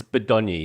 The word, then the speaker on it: Bodonyi: No, you pronounce it all. It's not like Greek or something, Bodonyi. I will tell you, but it's one that you probably can you guess? Bodonyi. It's Bodonyi. Yeah, Bodonyi.